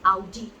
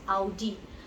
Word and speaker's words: Audi: It's not Audi, it's Audi. It's Audi.